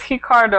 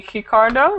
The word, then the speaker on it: Ricardo: So, it's Hiccardo. I'm saying it wrong. Your name, your first name should be Hikardo, right?